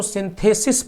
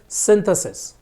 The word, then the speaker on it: synthesis: क्या होता है सिंसस बड़ी ई की मात्रा और इसका होता है सिंथेसिस यानी कि छोटी ई की मात्रा ठीक है अब पॉइंट